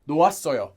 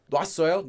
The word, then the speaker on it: 놓았어요: And this is not really pronounced like 놓아, 놨어요, 놨어요, 놨어요. It gets pronounced pretty much almost identically to 놨어요, 놨어. Notice I'm not saying 놓았어, I'm not saying 놨어, I'm saying 놨어.